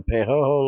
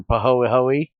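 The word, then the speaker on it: pāhoehoe: Heat exchanger turns lava into pehoho lava, or pahoehoe, I think is how it's supposed to be pronounced, and generates 80 heat units a liter, or 80,000 heat units a block.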